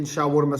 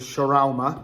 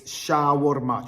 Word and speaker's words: shawarma: I'm saying is because everyone else calls it shar. I've been told by my mates that I'm saying it wrong, even though I'm from the Middle East, but it's shawarma. Trust me, it's shawarma.